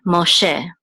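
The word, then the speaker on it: מֹשֶׁה: This chola makes the o sound. So mo, and this sego says and this hey is silent. So this is she, Moshe, and this is Moses, Moshe.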